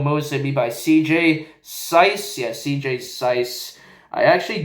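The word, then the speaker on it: Suess: s u e SS I thought it was like Seuss or something like that but it's SC I had to like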